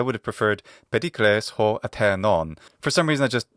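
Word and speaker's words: Ἀθηνῶν: He doesn't use the modern Greek pronunciation, which would be athinon. He says atenon, but it should be atenon, atenon.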